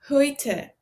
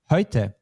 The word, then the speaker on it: heute: EU becomes ÖI in German. This time you did it very well, but let's just do it one more time. Heute.